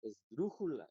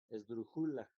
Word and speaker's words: esdrújula: Entonces si la sílaba tónica fuera la última, diría esula. Entonces no es. Si la penúltima fuera la sila atónica, le diría es brújula. Es brújula. Esdrujula. Entonces tampoco es la sílaba tónica es esta porque dice esdrújula.